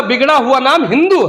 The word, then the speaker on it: हिंदू: का बिगड़ा हुआ नाम हिंदू है क्योंकि जब अब के लोग तुर्क के लोग यहां आते थे फारसी में एस का उच्चारण है होता है वो सिंधु नदी को हिंदू नदी कहा करते थे और सिंधु नदी